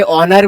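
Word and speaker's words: honour: तो इसमें H silent होता है। वैसे ही ऑनर में भी एस साइलेंट होगा। तो यहां पे एन आर ऐसे पढ़ेंगे। ये क्या होगा? एरर। Error very good. ठीक है? तो एन ऑन इसमें एच साइलेंट हो जाएगा। यह बताओ एन ऑनर।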